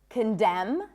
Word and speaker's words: condemn: The N is silent in the words hymn, not hymn, condemn, closing my lips, ending with an M, autumn, and government.